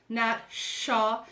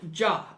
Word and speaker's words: Ningxia: to be delicious because everybody says it wrong but the proper pronunciation is named Chuck right it comes from the ninja Province in China so it's tough nap shop and not jump all right around the